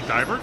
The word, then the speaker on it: Deibert: Joining us today is Brittney Deibert.